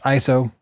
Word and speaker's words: ISO: Your ISO, spelled ISO, but pronounced ISO.